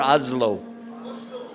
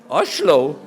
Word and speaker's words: Oslo: oh right oslo now how you say it I slower oslo a slow yeah not too slow just a slow oslo with a douche okay